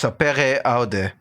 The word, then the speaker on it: sapere aude: Which Oh my god, it's just sapere aude. It's just sapere aude. I I cannot cut that. I'm sorry. Well, the motto is sapere aude, which translates to dare to know or have